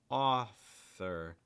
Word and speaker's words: author: a strategy, is to break it down a little bit. So author, 2 syllables. Let's do each syllable slowly. It's like author, author, author.